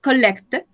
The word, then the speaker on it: collected: My uncle collected. Acá sí la podemos pronunciar completa porque termina en T-E-D.